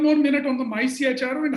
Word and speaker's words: MyCHRO: It's okay, many people pronounce it as micro. In fact, even for the registration, when it went, they also said micro is already registered. We cannot register it. But the real pronunciation is MyCHRO.